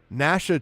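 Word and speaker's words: Gnasha: they look quite juicy Nasha chews through and it is spelled exactly like that as in nashing of teeth g n a ha Nash chews through all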